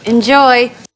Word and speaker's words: enjoy: go there you go enjoy enjoy enjoy second syllable stress enjoy enjoy enjoy enjoy